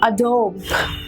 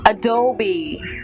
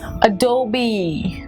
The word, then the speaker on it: Adobe: this switch again is mister nouns and people pronounce that a dog a dog because what they think is this